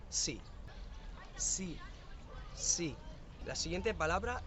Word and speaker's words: sí: La siguiente palabra es sí, cuando quieras afirmar. El problema es que en coreano S más I se pronuncia shi, pero en español S más I se pronuncia sí.